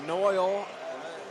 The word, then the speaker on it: Noil: for Texas aam yeah noil pronounced like oil finds an opening down